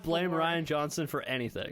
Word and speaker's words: Rian Johnson: And I believe that's pronounced Rian Johnson.